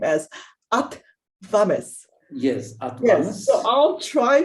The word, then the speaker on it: Wammes: the interview i learned that i have to pronounce his name as vames yes yes so i'll try to remember that